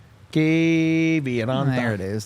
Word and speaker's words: Kiviranta: Kiviranta. There it is. Kiviranta.